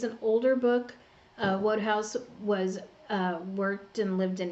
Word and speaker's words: Wodehouse: Wodehouse. Pretty sure that's how you say his name. So, I mean, along the line, I gotta get one of these right somehow, right? So, Wodehouse.